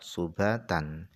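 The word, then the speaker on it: سُبَات: Kemudian qauluhu, perkataan Allah subhatan, itu cara bacanya adalah biddom, dengan dibaca dhammah subhatan, kagurabin, seperti kata-kata ghurab.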